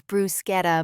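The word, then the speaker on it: bruschetta: It's brusetta, mom. The ch is a hard k sound in Italian.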